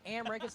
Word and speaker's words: Amrich: That's right, Amrich. It's spelled kind of weird, but the Rich is actually Rick.